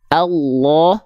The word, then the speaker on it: Allah: dia harus dibaca tebal Contohnya apa Allah lamnya enggak dibaca Allah kalau dia tipis selamanya Allah berarti dibacanya bukan Allah Masyaallah bukan Masyaallah berarti